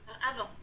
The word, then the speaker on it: avant: Avant, don't pronounce the T, just avant.